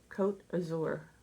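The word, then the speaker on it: Côte d'Azur: Cote d'Azur.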